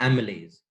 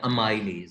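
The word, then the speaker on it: amylase: उस एंजाइम का नाम है एमिलेज या अमाइलेज, जिस तरह मर्जी आप प्रोनाउंस कर लो, एमिलेज होता है।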